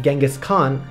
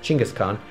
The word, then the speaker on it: Genghis Khan: In fact, Genghis Khan, actually pronounced Chinggis Khan, founder and great ruler